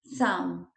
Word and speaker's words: thumb: one we say some thumb the letter b is silent so we don't pronounce it this this b is